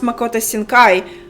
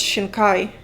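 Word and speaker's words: Shinkai: Damn, it was Makoto Shina Kai, which I used to pronounce Mako Shankai, but it's Shina Kai.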